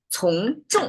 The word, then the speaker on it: 从众: Okay, it's curl the tongue. Okay, you cannot pronounce flat. You have to curl the tongue. It's a 重, not a 重. I was earlier mispronounced. 从众.